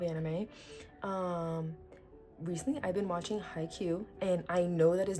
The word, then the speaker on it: Haikyuu: Speaking of anime, recently I've been watching Haikyuu, and I know that is not the wrong pronunciation because I looked it up on Google yesterday.